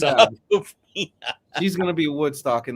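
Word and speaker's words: Awkwafina: It's Aquafina.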